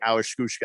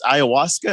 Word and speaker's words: ayahuasca: Well, if I'd known that was weight loss, I'd be on the Awashkushka. How do you say that? It's ayahuasca.